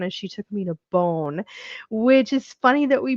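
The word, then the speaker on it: Beaune: We had the best time in Bone. Bone I had never been to. It's spelled B E A U N E. So not how Americans are thinking of the word bone.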